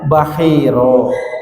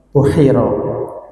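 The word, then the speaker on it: بحيرا: ini jarang yang baca jadi bacanya bahiro sudah lghatnya adalah B masir waqila bidamil Bai dan ada yang menyatakan Di Dam bnya berarti pu apa buhiro boleh bahiro Boleh Bu Kalau buhairo mungkin ada lghat lain ya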